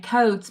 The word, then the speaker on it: Coates: And Coates, my husband, it's not spelled Coats. When I say Coates, everyone writes Mrs. Coates, Coats. I'm like, yep, we'll go with it. My husband's like, there's an E.